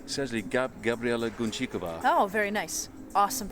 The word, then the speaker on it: Guncikova: So it's essentially Gabriela Guncikova. Oh, very nice. Awesome pronunciation.